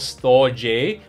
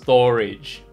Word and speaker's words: Storj: storage IO yes you ready right it's not storage a but pronounced storage effectively what storage IO does is an application